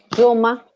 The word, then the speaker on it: Jaume: Yoma, para los que quieran saber cómo se pronuncia en catalán. Y bueno, Jauma.